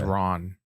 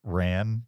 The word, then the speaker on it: Ran: Speaking of I think it's Ron. Ron. Sorry. Ron. It's spelled Ran. My American pronunciation is Ran, but it's probably Ron.